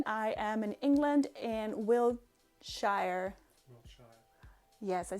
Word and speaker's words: Wiltshire: I am in England in Wiltshire.